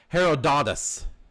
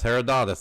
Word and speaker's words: Herodotus: That would be I'm gonna try to pronounce this right. Herodotus. A that's H E R O D O T T U S. Herodotus.